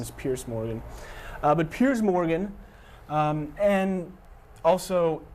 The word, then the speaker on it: Piers Morgan: That would be CNN's Piers Morgan, or as some people still call him, Pierce Morgan. I keep seeing people say his name is Piers Morgan.